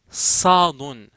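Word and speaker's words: صاد: Sadun. C'est pas comme le S, mais c'est un petit peu plus augmenté, on va dire.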